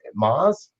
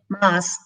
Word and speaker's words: Moss: Is it Maz? Moss.